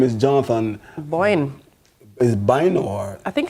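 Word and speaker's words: Bynoe: His name is Jonathan Boyne. Is Bino or? I think it's Boyne. It's B-Y-N-O-E, however you pronounce that. Wait, B-Y-N-O-E. It's not B-O-Y-N-E? No, it's B-Y-N-O-E. Wait, what? Yeah. It's Bino.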